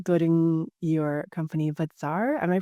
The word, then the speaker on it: Bazaar: Building your company Bazaar. Am I pronouncing that right?